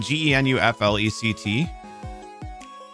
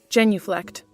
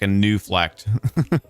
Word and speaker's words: genuflect: that's uh kneeling down i've always kind of wondered how do you say that word it's like g-e-n-u-f-l-e-c-t genuflect genuflect okay so i would have been pretty close actually i just wasn't sure if it was like a silent g or something weird like a new flect but it is genuflect so that the one